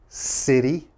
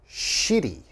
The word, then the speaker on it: city: is city okay city city you have to pronounce that city and a lot of my students say shitty okay you don't want